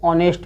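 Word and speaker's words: honest: है, साइलेंट हो गया, तो इसको क्या पढ़ेंगे, ऑनेस्ट पढ़ेंगे, ऑनेस्ट। और ये हॉनेस्ट नहीं पढ़ेंगे, हॉनेस्ट नहीं बोलना है, इसको ऑनेस्ट बोलना है, ऑनेस्ट।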